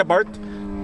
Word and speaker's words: Abarth: and we have a 2017 Fiat 124 Spider aart is that how you say aart that's how you say it okay the big